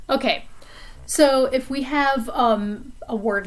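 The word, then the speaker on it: homme: a vowel sound like um for man that h is silent so the sound that comes after it is a vowel sound so we're going to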